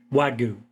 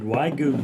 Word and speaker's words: Wagyu: Wagyu. Am I Yeah. pronouncing that correct? Yeah, Wagyu.